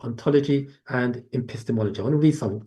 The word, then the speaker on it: epistemology: Epistemology. Uh, pronounce it again.